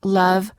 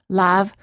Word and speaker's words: love: It's the neutral sound as in love, other, and Monday, which non-native speakers frequently mispronounce as lav, other, and Monday.